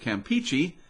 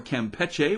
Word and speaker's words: Campeche: parts of the southeast bay of campeche or campeche whichever way you want to pronounce it water temperature is warming